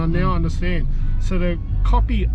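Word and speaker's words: kopi: want to order copy they put a k o p i yeah copy it's spelled you know it's actually English copy copy so copy means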